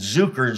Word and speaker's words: Zuker: was like definitely yeah my last name is zuker which means sugar so I think people think that so funny inadvertent right Zucker zuker or zuker but there's no I mean I pronounce it zuker so no one puts